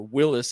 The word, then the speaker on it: Willys: say bantam did uh willie's or willis as it's should be pronounced so anybody who has a willy's edition jeep stop saying willy's it's really willis but uh anyway willis